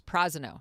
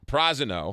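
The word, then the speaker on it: Prasino: I've been mispronouncing it until I showed up, and the hostess said it's Prosino. Prosino.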